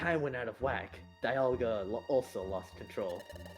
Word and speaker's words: Dialga: of the temporal tower which was governed by dialga Dialga that's how you're supposed to pronounce it silly he is the legendary pokemon